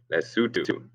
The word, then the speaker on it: Lesotho: It's spelled Lesotho, but it's pronounced Lesotho.